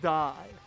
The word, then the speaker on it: Die: Is that pronounced die or D? Because this man's name might be Lennox Die. What the fuck, man? Like, I was excited for Ben Bones. I was pumped we got the Ben Bones class. This class has the weirdest fucking names. It's pronounced Die.